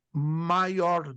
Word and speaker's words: maior: palavra vem do latim maior domo maior porque tá escrito Major né mas o J no latim se pronuncia como ih então a palavra vem